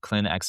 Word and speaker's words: Clinx: So, I am the founder of Clinx Academy. So, that's spelled C L I NX Academy.